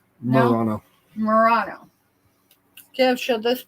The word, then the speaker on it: Murano: Who likes Merino? Am I pronouncing it either way correctly? Murano.